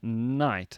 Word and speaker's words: knight: it out anyway some examples the K in night as in kns of the Round Table not